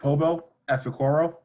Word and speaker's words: Pobo Efekoro: Can you give me the full pronunciation? yeah. So it's Pobo Efekoro.